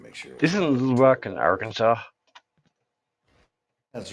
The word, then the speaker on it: Arkansas: of Kansas it goes from Arkansas and you pronounce it Arkansas good question we're not in Kansas anymore you're